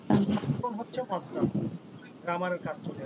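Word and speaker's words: عقل: হুম আকল কা আকলুকা, আকলুন হচ্ছে মজদার, গ্রামারের কাজ চলে আসবে। আকলু মস্তিষ্ক। তাহলে এখন এটা হবে কি, উর্দুতে উচ্চারণ হবে আকল। আকল আকল কাফের উপর জবর হয়ে যাবে।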